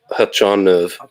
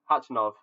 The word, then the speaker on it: Khachanov: you pronounce it oh i pronounced it right in russian it's hachan of hatchinov i love how i don't know why they put a k in front of his name yeah that's true it's